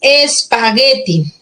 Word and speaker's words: espagueti: Entonces tenemos espagueti, espagueti, espagueti, espagueti, ¿no? O espagueti. La fuerza de voz recae aquí, en esta sílaba.